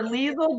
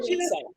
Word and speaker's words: Lisel: So remember, Lisel Diesel, Lisel Diesel, Lisel That's Diesel, right. okay? You guys, As long and as you don't call me Lisa.